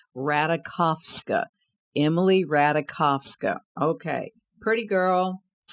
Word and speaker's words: Ratajkowski: Emily Ratajkowski. That's the way she likes her last name to be pronounced. Ratajkowski.